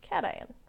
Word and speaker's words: cation: funny as positive and I know cats have paws so cation all right likewise if